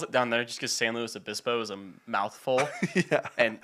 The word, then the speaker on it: San Luis Obispo: San Luis Obispo? San Luis Obispo, slow, yeah, whatever. Okay, slow. Slow's like the... Slow's like, it's what everyone calls it down there just because San Luis Obispo is a mouthful.